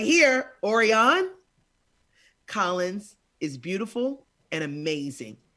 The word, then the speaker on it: Orianne: Is that how you pronounce it? Orianne, yes. Orianne, that's so beautiful.